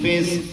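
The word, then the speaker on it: فسق: tastaqsimu bil azlam dzalikum fisq. Ini cara bacanya gimana kalau kita mau wakaf? Fiskun. Fiskun kalau kita berhenti berarti fis aja, cuma di akhir kita baca pakai kop.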